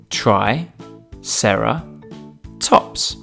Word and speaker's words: Triceratops: who do we have with us today Triceratops try Sara tops can you say it with me try Sara tops let's learn all about Triceratops Triceratops was found